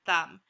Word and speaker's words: thumb: how crazy is this there's this weird silent B at the end of the word thumb last word we're gonna